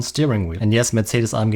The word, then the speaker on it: Mercedes-AMG: And yes, Mercedes-AMG is the correct German pronunciation of this name.